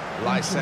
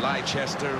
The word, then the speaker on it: Leicester: The Leicester City lineup: Kasper Schmeichel starts in goal.